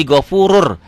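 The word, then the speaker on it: غَفُورٌ: Dibacanya Ghafurun jadi Ghafurur.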